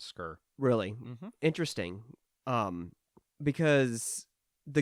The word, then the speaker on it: Sker: right in the game I've heard them pronounce it as scur really interesting um because